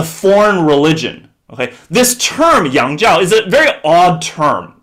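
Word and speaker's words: 洋教: foreign religion okay in chinese in mandarin is pronounced uh yangjiao okay as a foreign religion okay this term yangzhao is a very odd term okay if you're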